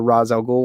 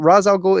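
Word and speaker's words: Ra's al Ghul: up here and says the latin a is pronounced ah so it's probably raw for raz al ghul why i mean racial raz algol isn't latin he's middle eastern so i don't know if it necessarily applies i don't exactly know the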